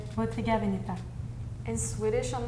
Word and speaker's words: Bottega Veneta: I'm from North Italy, so I pronounce this as Bottega Veneta.